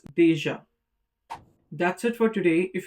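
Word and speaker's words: déjà: And the last is deja which means already. And you already know that the grave accent on the letter A doesn't change the pronunciation. It's deja.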